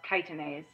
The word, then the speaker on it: chitinase: enzyme called chitinase it's spelled chitinase but it's pronounced chitinase chitinase is this enzyme that dissolves the exoskeletons